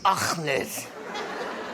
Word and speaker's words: Achmed: So, uh, Akmed. No, no, it's Akmed.